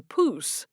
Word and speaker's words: poose: So, it's a poose. Jed looked over at Wall-E, who was standing next to Malachi. Rhymes with goose.